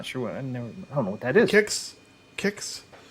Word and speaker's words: Kix: was just for design it's pronounce kicks kicks never heard of it kicks kicks yeah kicks remember the Cal